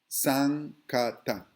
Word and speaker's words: Sankata: So this is spelled wrong. It's N, this is an N, Sankata, all right?